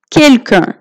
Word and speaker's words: quelqu'un: Quelqu'un, quelqu'un, so এখানে প্রায় প্রথম ওয়ার্ডটার মতোই প্রোনাউন্সিয়েশন, কিন্তু এখানে চন্দ্রবিন্দু দিয়েছি, কেননা এখানে ইউএন আছে শেষে, আর যখন ইউএন থাকে তখন এটা প্রোনাউন্সিয়েশন হয়ে যায় quelqu'un।